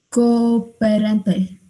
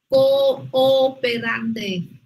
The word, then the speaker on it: cooperante: Cooperante. Cooperante. Otra vez, Quinn. Cooperante. Eso es. No, decimos cooperante. Ni cooperante. Cooperante. Cinco sílabas, cooperante, eso es muy bien.